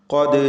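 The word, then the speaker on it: قد: ഖദ് ജാഅനി, ഖാഫിന് തഫ്ഖീം കൊടുത്ത് ഉച്ചരിക്കുക. തടിപ്പിച്ച് ഉച്ചരിക്കേണ്ട അക്ഷരമാണ് ഖാഫ്. ദാലിൻ്റെ സുക്കൂൻ ഖൽഖല സുഗ്റ നൽകി ശബ്ദം ഹറക്കത്ത് പോലെ ചലിപ്പിക്കണം.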